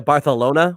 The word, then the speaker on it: Barcelona: And Dan, it is pronounced Vicky Cristina Barcelona with a TH. That's actually a good movie. I'm not gonna lie. If you don't say it with a TH, then you're not saying it appropriately.